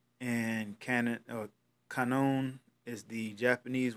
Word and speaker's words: Kannon: this God is called Guan Yin okay I guess that's the Chinese Way of pronouncing it and cannon or kinome is the